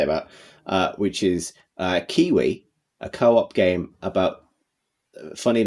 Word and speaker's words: KeyWe: It's Kiwi as in the bird, but it's spelt key as in keyboard key, KEYWE, we as in us.